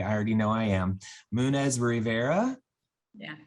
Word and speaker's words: Munoz-Rivera: name i'm sorry i already know i am munez rivera yeah correct oh i said it right i'm